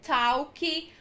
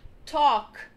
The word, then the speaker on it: talk: As duas primeiras são complicadas, porque a gente costuma dizer talk, walk, mas não é assim. O correto é talk, walk, talk, walk, have, salmon, should, could, would, e não would.